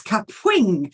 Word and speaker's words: Kapwing: It has a certain pronunciation. It's Kapwing.